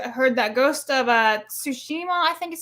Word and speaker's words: Tsushima: I just heard heard that ghost of uh tsushima I think is how you say it will